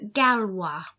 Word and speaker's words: gallois: Le gallois. So think about the number 3, toi and poisson, that wa sound when we have oi.